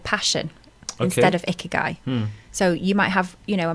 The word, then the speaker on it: Ikigai: How do you pronounce that? Ikigai.